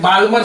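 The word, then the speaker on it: Balmer: अब कहीं से भी हाइयर से कूद के सेकंड में आ जाए, तो फिर उसको बोलते हैं बाल्मर सीरीज या बामर सीरीज। बामर सीरीज, एल साइलेंट होता है उसमें।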